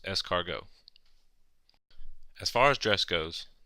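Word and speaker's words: escargot: Canard rabbit pronounced and snails pronounced escargo as far as dress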